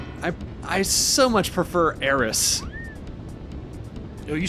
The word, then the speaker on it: Aerith: her name was always Aerith and it sounds like earth and it goes correctly with the Japanese pronunciation of the kanji and but Aerith uh i I so much prefer Aris oh you say eros